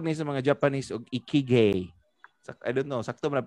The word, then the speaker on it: ikigai: Gitawag ni sa mga Japanese og ikigai. I don't know, sakto man pagka-pronounce ikigo? Dili ay ikagai.